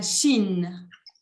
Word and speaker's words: Chine: la Chine. La Chine. La CH en français se prononce ch, ok? Chine.